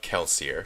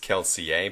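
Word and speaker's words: Kelsier: Miss borne is the story of keler sometimes pronounced keler but we'll go with the audiobook pronunciation who's come up with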